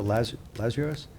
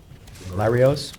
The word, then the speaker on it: Larios: Town Board Resolution 283 of 2023, authorize the town investigator Ricardo Larios, Larios, I said it wrong, and Code Enforcement Officer